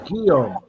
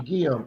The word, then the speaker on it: Guillaume: Okay, Happy Chappy says it's pronounced as Guillaume. Thank you, Happy Chappy. Guillaume.